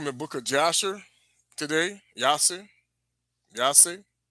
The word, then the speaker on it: Jasher: Yase. Really is how you say it.